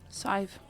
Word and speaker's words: Sadhbh: Sive. Sive? Mm-hmm. Yeah. All right, Jeff and Sive.